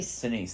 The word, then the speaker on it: Sinise: Sinise, thank you.